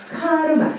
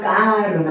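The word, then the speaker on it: karma: 카르마. 그래서이 K를 인도 사람들은 좀 발음을 된 발음을 해요. 우리는 K은 카 발음을 하는데 인도 사람들은 끄 발음을 해요. 그럼 만약에 인도식으로 발음한다면 뭐가 되겠습니까? 까 까르마.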